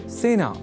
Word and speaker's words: सेना: एक शब्द है सेना जिसका प्रयोग सेना इस रूप में ही करना चाहिए क्योंकि सेना में स इस अक्षर के बाद ए इस अक्षर का प्रयोग हुआ है। अतः सेना इस शब्द के उच्चारण में ए इस स्वर वर्ण या अक्षर का ही प्रयोग किया जाना चाहिए ना कि ऐ का।